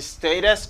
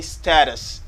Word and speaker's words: status: Il y a deux façons qu'on peut prononcer mot ça. On peut dire status or you can say status. American say status. Américain dit status.